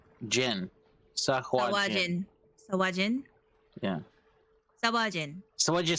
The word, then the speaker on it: Sahuagin: Pronounce It is Sahuagin. Sahuagin. Jin. Sahuagin. Sawajin. Sawajin. Yeah. Sawajin.